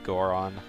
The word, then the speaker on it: Goron: nobody's noticed how I enunciate the G when I say like a lot of people say bigger on like but I always say Big Goron I go back and forth yeah I I always say it like it's two separate words and I'm very self-conscious